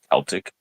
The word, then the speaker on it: Celtic: in the pronunciation because the actual pronunciation of the word Celts, Celtic, is with a hard K.